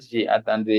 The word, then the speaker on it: J'attendrai: jetandre J'attendrai, jetandre but not j'attendrai. Yeah, j'attendrai. okay we will not the I will not be pronounced. The A will be pronounced, but I mean that the E will go.